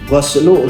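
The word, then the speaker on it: غَسْل: Goslu ginnya dibaca fathah.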